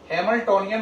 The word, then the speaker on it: Hamiltonian: अब बात रही इसका शॉर्ट फॉर्म है ये, इसे पढ़ते हैं हैमिल्टोनियन ऑपरेटर। क्या पढ़ते हैं? हैमिल्टोनियन operator. स्पेलिंग देखें, HAMILTONIAN, हैमिल्टोनियन ऑपरेटर।